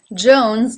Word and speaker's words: Jones: in she Williams Jones Jones like Johnson starts with this sound Jones it then has the oh as in no diphthong and notice that the S at the end is voiced Jones Jones number 4 brown